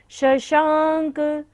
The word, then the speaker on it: शशांक: संपूर्ण मंडल शशांक तालव्य श है, शक्कर की तरह बोलना है।